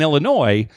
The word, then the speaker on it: Illinois: pronounce the S even though you don't pronounce pronounce the s in Illinois you do in dis planes wa they are